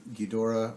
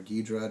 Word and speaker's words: Ghidorah: introduced that three-headed kind of golden dragon looking ghidorah or ghidra depending on which movie the pronunciation of the that character that's exactly what